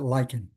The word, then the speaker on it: lichen: Did have a discussion with Nancy last time about the pronunciation of lichen. She pronounces it lichen. I took my pronunciation from Basil Bunting.